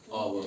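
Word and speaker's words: hour: है जैसे एय आर इसको ह नहीं पढ़ते इसको आव पढ़ते हैं क्या पढ़ते हैं आ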